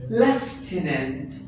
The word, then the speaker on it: lieutenant: Well, my dear, the first one word is lieutenant.